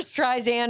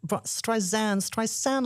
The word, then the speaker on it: Streisand: learn how to say it's like sand on the beach, not Streisand like sand on the beach.